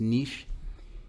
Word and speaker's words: Niche: a website identified as I think it's they pronounce it as niche Niche ranks thousands of places to live based